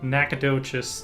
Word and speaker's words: Nacogdoches: their own my mom actually lived here in Nacogdoches is how they say it today Texas in